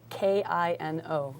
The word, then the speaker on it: Kino: sure it's uh w-i-s-dash k-i-n-o Kino based on the not English word but it's like French German and a couple other languages Kino for movement or film